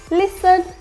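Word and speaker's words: listen: होगा जैसे कि आता है batch match catch लिसन ऑफ लिसन तो यहां पे क्या है टी साइलेंट है ग्लिसन एस और ई क्या आ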